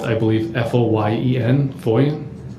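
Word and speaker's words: Foyen: who that detective was David his last name is spelled I believe f-o-y-e-n foia so at the time that you turned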